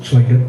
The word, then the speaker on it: Tlingit: And yes, it's pronounced Tlingit, even though it starts with a T, but we learned that.